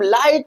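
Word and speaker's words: light: क्या आपने कभी सोचा कि हम लाइट में सिर्फ एल आई टी कहते हैं। लाइट जी एच नहीं बोलते हैं यार। जी एच को कहां गायब कर देते हैं?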